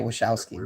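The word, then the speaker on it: Wojcicki: said you hear me susan talking about what what what how do you say her name would woe it's such a weird-looking name wachowski wachowski i know you say it wishowski but you hear me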